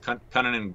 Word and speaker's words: Kunin: Kunin. That's what they say on the broadcast, at least. Kunin and Greenway.